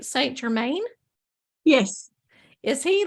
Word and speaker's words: Saint Germain: Michael you go and then say am I pronouncing this right Saint Germain yes is he like one that really resonates